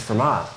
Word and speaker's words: Fermat: Um the T is silent, right? So it's FMA.